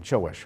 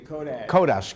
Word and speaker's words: Kodash: Well, today we have on Erwin excuse me, I mispronounced your last name. Chowish, right? Actually, Kodash. Kodash.